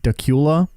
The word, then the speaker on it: Dacula: I don't know how to spell it, but it's pronounced Dacula. And I'm like, that's got to be wrong.